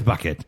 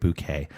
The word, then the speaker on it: Bucket: Her name is Bucket, but she insists on everybody pronouncing it Bouquet.